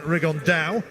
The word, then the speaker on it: Rigondeaux: And Tete's talked about fighting Rigondeaux, or as he's correctly pronounced with the Spanish accent, Rigondeaux.